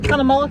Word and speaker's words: Cunnamulla: We're just on the outskirts of Cunnamulla, is it called Cunnamulla, Kevin? Is that how it's pronounced?